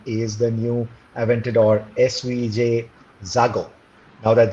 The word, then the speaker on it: Xago: really excited about is the new Aventador SVJ Xago. Now that Xago word, I think it's one of the easiest words to pronounce when it comes to the Lamborghini universe.